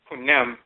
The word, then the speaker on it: Khnum: They are named after the divinity, often spelled Khnum, pronounce it Khunem, because Khunem is the potter divinity.